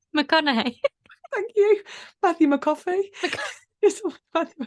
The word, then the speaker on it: McConaughey: Matthew McCoffney. McConaughey.